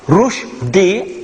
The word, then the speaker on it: Rushdie: And Rushdie, see, Rushdie should be spelled rightly the way we pronounce. Rushdie, R-O-O-S-H. Rush. D-E-E-D. Rushdie.